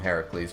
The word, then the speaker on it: Heracles: Though I call him just to note, you guys, I call him Heracles because he's a Greek hero, and that's the Greek way to say.